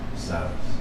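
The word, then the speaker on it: Silas: one more time please silus silus like in the Bible I was thinking about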